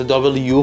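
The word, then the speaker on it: W: الفا انگلیسی اضافه شده حرف دبلیو به صورت دابل وی نوشته میشه و به صورت دابل یو خونده میشه حرف زی به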